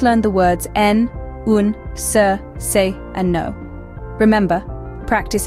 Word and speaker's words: ser: Our third word is ser. This is the Spanish verb to be. It's pronounced like sire.